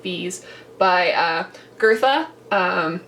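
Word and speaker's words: Goethe: by uh girtha um I think I'm pronouncing that right I did look up how to pronounce that and it it really has like an R but kind of not sound in it um which is a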